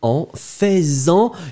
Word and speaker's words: en faisant: And then you will put your pronoun en faisant. You can make the liaison. If you don't make it, it sounds really, really strange. So, basically, go for faisant.